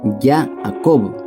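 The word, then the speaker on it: יעקב: de Jesús Jacobo en idioma antiguo hebreo es yaacob se escribe y griega 2 a q o b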